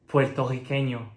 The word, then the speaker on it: Puertorriqueño: And something that you might hear in more rural regions of Puerto Rico is that R doble is pronounced like French R. Puertorriqueño becomes Puertorriqueño.